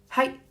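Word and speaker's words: はい: You can say height is how you say yes. Height. It's very quick. Height. That's how you say yes in Japanese.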